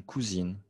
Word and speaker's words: cousine: Masculin, je prononce un cousin. Féminin, une cousine. OK?